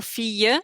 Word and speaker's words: fille: It's always like a y sound almost when you have two L's together. So Fille, you wouldn't think that that's how you spell it.